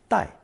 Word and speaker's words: 带: It's pronounced fourth tone, 带.